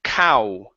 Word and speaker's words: cow: milk and then here instead of saying call it's au cow to milk a cow Jamal ago ok so here you sing Cole Cole said Kyle push the sound forward in your mouth cow cow cow there you go yeah